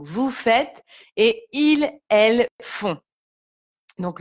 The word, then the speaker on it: font: Donc, vous faites et ils, elles font. Donc, le T est muet et le ON se prononce on.